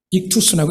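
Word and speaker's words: ΙΧΘΥΣ: 저 글자 안에 저기 익투스라고 읽습니다.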